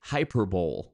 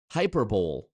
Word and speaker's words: hyperbole: Hyperbole. Not hyperbole, hyperbole. Which, as far as I know, there's no alternate pronunciation of hyperbole, depending on, aluminum or aluminium, tomato. As far as I know, hyperbole is only pronounced one way.